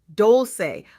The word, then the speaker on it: Dolce: I'm your host, Dolce, pronounced dol-say, like sweet softness whispered in French, and I'm your guide